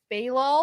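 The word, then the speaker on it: Be'lal: Balal? Who did I say? I don't know. Who did you Oh, say? I just pronounced it differently. Is it Bilal? Bilal, Bilal? yeah. Yeah, okay. Yeah. BE apostrophe LAL.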